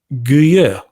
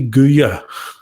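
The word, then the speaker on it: Guillot: headed by General Gregory guer I think I got the pronunciation I'm closer to the correct pronunciation General Gregory guya okay so I'm sure I'll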